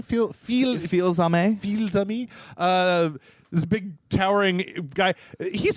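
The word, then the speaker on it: Fils-Aimé: How do you say his name? Feel-Zame.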